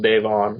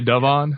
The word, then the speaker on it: Davon: um uh I and I believe it's pronounced Dave on Davon oh did I say Devon all right yeah Dave on yeah you're right you're right